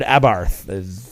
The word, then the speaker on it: Abarth: was talking about his recently purchased Fiat 500 Abarth that's how you say it and uh can